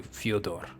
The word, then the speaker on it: Fyodor: I know Fedor was actually Fyodor, if you're going to say it super accurately. But we all say Fedor, innit?